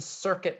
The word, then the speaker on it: circuit: the second in the in this word circuit the stressed syllable is the first syllable right and how about